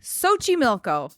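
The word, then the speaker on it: Xochimilco: SOI milco Mexico do you want know how that's spelled x o c h i m i l c o Sochi milco I had to Google I had to Google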